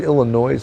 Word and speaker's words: Illinois: wow Illinois you know I said Illinois before I don't know why I said that it's pronounced Illinois I used to get annoyed at people would say Illinois and I there I